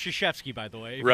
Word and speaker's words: Krzyzewski: And my buddy, just to be a smart-ass, Coach K is walking by, which it's pronounced Krzyzewski, by the way, if you don't know.